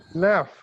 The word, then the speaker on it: laugh: no what is that laugh so which sound it is producing gh is producing f sound laugh you're saying